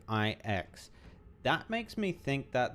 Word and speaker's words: IX: Beque strength unto Mortals I always thought uh the nil guy's name was X I'm surprised to hear that they actually pronounce it iix that makes me think